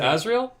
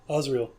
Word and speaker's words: Osriel: Was it Asriel? Osriel. Osriel.